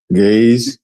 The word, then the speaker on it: Ge'ez: Gaze.